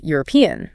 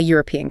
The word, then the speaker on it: European: And the opposite is true for a word like European. It starts with an E, a vowel, but we say a European country. Because the first sound is y sound, which is a consonant sound in English, the same for a university.